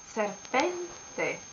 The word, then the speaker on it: serpente: find the right pronunciation in this case the accent is here then in fact you say serpente we have finished italian